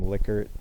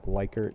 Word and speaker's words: Likert: Likert or Likert scale the person who made the scale pronounces his name Likert but everybody calls it Likert because it sounds more normal and you have probably